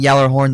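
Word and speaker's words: Gjallarhorn: And yes, I am saying Yallarhorn. That's how you pronounce it. That's how it's pronounced in universe.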